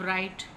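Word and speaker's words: write: अब राइट, देखो डब्ल्यू की साउंड क्या है? वाओ, हम उसको नहीं पढ़ रहे, ठीक है? ये डब्ल्यू क्या है? साइलेंट है इसमें।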